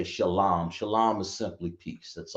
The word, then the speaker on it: shalom: in the Bible uh that's Shalom or shalom it's supposed to be shalam but because the Yiddish